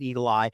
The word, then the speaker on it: Eagle AI: Racist program literally but now they call it Eagle AI they still pronounce it Eagle ey because they use artificial intelligence to artificially challenge voters